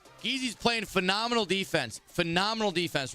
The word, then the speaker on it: Geezy: It's not said like G-Easy. No, it's Geezy. Because listen, there's another player who was in the tournament earlier who is spelled the same way, G-E-E-Z-Y. And he goes by Jeezy. And this is G-E-E-Z-Y, but he goes by Geezy.